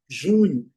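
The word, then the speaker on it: June: Uma coisa interessante também é o mês de junho. Jun, Jun, Jun. Letra E não é pronunciada. O letra U com som longo.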